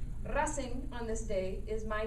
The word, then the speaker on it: Racing: teams independiente and rasenc rasing is spelled like racing the founder was a fan of american race cars rasing on this day is